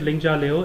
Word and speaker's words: Lingjia Liu: we can sing about it's kind of ninja with L okay so it's a close to ninja without all right so